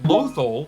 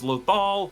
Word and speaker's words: Lothal: Mon Mothma calls the planet Lothol, and I just really appreciate how Filoni does this, even though it's Lothal, just recalling the planet's pronunciation from the series